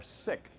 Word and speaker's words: SiC: is called silicon carbide or sick or sic depending on how you want to pronounce it in both of these